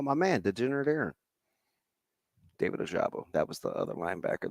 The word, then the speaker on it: Ojabo: into the murky waters of the how to pronounce a last name. No, but you're also just an abbreviation guy. David Ajabo, thank you. Whoever texted me that. Oh, Oh, my man, Degenerate Aaron. David Ojabo.